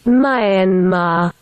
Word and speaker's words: Myanmar: Here's the British pronunciation. Mayanma.